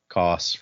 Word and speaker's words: Koss: I know my name can be hard to pronounce for you, so you can call me Koss, rhymes with cross.